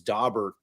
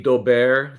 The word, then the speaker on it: Daubert: And I prefer the Daubert, the kind of the French pronunciation.